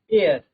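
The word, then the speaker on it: heir: इसमें आप एक तरीके से देखें तो एच जो है हमारा एच साइलेंट है। एच अगर साइलेंट होगा तो उसका जो प्रोनंसिएशन होगा वो हमारा क्या है? वोवेल वर्ड से स्टार्ट होगा। वोवेल से स्टार्ट होगा। इट मींस इसको हम पढ़ेंगे आर, ऑनर और एयर।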